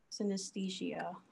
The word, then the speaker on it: synesthesia: I'm not sure if you would call it disorder, but I have synesthesia. I believe I'm pronouncing that right. Yeah, you are.